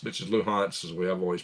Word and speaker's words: Luhansk: Anyway, 21 territories, Crimea, Lugansk, which is Luhansk, as we have always pronounced it, and Donetsk.